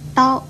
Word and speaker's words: 叨: 叨这个字又念叨，国语注音是的凹叨，一声叨。